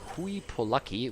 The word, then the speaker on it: Hooye Polucky: But he told me Hooye Polucky, which is kind of interesting, because if you actually say Polacke in German, that's a slur against Polish people.